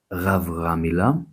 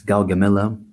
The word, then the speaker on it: Gaugamela: His most famous victory came at Gaugamela. That's how we say it in Greek. That's Gaugamela in English, in 331 BC, at the age of, prepare yourselves, 25.